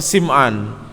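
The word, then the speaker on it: سمعان: Kata beliau, faqad jaa fi haditsin Nawas bin Sam'an at-Tawili, maka sungguh telah datang di dalam hadisnya An-Nawas ibni Sam'an, sebagian ulama bacanya Sim'an, At-Tawili, hadis yang panjang.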